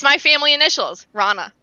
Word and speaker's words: Rana: streaming um rana r-a-n-a or raina whatever you want to call me i answered everything but it's technically pronounced rana yeah i called her reyna for literally like i